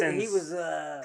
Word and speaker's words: Neeson: Don't say Liam Neehy. Neeson.